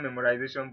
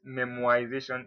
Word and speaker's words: memoization: memorization is like memorization it's not memorization but memoization if i were to